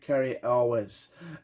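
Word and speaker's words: Cary Elwes: men in tights with carrie always um which is how his name is pronounced um elvis um i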